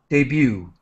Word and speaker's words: debut: right now just quickly debut is a French word we do not pronounce the T debut all right so some